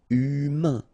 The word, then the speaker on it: humain: Remember, H doesn't exist. So, U, then A-I-N together. Un. Humain. Humain.